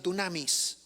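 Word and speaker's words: δύναμις: La palabra poder es la palabra griega que se pronuncia dunamis. ¿Qué se te viene a la mente cuando digo dunamis?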